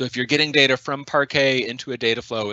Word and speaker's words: parquet: does okay there is one specific question regarding parquet parque i i i might be i might be mis mispronouncing that name park a if i convert a file to parque using